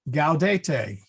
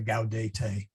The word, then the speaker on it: gaudete: And then gaudete, which should be familiar from the, I guess that's the introit, if I'm not mistaken. But there's a number of places where there is a gaudete, hard G.